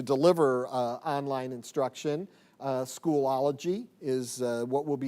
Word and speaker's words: Schoology: on the pronunciation because it is schoology schoology a school a schoology like a eulogy but school age we'll get you there